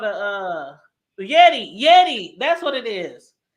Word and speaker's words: Yeti: it's called a uh Yeti Yeti that's what it is yeti y-e ain't that what I said no you say Yoni you it's a Yeti a Yeti might and